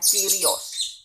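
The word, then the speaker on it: Κύριος: Bahasa Yunaninya Kyrios. Tulisannya Kurios, kita bacanya Kyrios.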